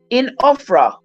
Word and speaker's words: Ophrah: oak, which was in Ophrah. Oh, this almost spelled like Oprah, but it has an H, an extra H, so it's Ophra.